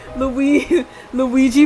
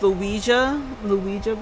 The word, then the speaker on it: Ouija: Luigi board? Yes, the Luigi board. Actually, it's pronounced Luija board.